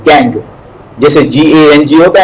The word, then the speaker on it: gangue: This the word is pronounced as गैंग, जैसे GANG होता है इसी तरह से, लेकिन स्पेलिंग थोड़ा अलग है, GANGUE, but pronounced as गैंग।